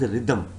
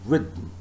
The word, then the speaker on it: rhythm: Please do not call this word as rhythm. It is not rhythm. You have to pronounce this word as rhythm. What is it? Rhythm. All right.